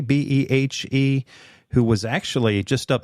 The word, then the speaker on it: Behe: His name is Michael, I guess it's pronounced Behe, Behe, who was actually just up north of me here at Lehigh University.